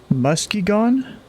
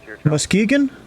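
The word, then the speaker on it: Muskegon: out as Weller 1893 you like to say musky gone but it's pronounced mus oh wait was that it Muskegan I just heard him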